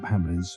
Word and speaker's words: Hamleys: The ending scene of Eyes Wide Shut was filmed at London's centuries-old toy shop Hamleys, which rhymes with Stanley's, as if he is the toy maker.